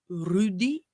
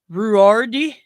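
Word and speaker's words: Ruairidh: But Scottish actor Rudy Malika, yes, that is pronounced Rudy. I've said it many times, Gaelic is a batshit crazy language. It looks like Ruardi, but it's Rudy.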